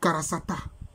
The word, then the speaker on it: Kurusata: On peut dire Kurusata ou Karasata. On a ici K-K-H-N-T.